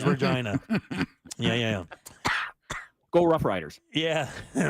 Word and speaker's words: Regina: The capital of Saskatchewan is Regina. Oh, man. Nope. Yeah, you have to say it like that. Turning off my mic. Definitely not Regina. It is Regina.